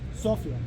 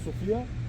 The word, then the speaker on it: Sofia: The pronunciation actually is Sophia, not Sophia just to differentiate between the words, but that's a detail.